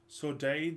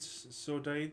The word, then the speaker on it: saudade: of us console us I think the album's pronounced she called saudade saudade si UD ad es very